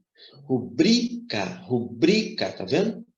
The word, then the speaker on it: rubrica: de que maneira muito pronuncia assim ó rubrica rubrica como se fosse proparox muitos pronunciam dessa maneira porém essa palavra minha gente ela não é proparox ela é parox a pronúncia rubrica observa como é importante